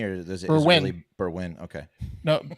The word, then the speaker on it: Berwyn: really Berwyn?